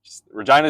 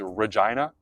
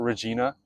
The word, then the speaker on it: Regina: Regina is how you pronounce it. Just so you know, the capital of Saskatchewan is Regina, and that's how you say it. It's not Regina.